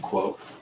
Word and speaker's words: Quoth: But like just that, naming the character that, Quoth. pronounced quote.